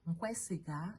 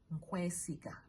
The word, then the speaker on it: nkwesiga: Nkwesiga. Nkwesiga is NKWE. Nkwe, and then you add on SIGA. Nkwesiga, like I trust you. Nkwesiga.